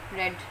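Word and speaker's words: read: The Holi Quran is being, रीडिंग की third form क्या आएगी, रेड। स्पेलिंग वही होंगे लेकिन प्रोनाउंसिएशन में हम रीड को रेड बोलते हैं।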